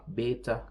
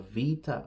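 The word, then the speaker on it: Βήτα: I would say Alpha Beta Gamma Delta in in modern Greek they say Alpha Vita Gamma Delta so um and that's a b and it's pronounced as V in modern Greek those ancient pronunciations are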